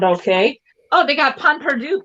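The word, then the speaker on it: pain perdu: Oh, they got Pon Perdu. Pon Perdu, isn't that how it's pronounced? Pon Perdu. Panole. It's not with pain, it's pun, right?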